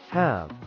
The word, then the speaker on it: halve: Pronounce halve as hɑːv, rhyming with have.